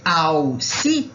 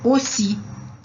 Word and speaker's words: aussi: Então, esse ao si, na verdade, é aussi.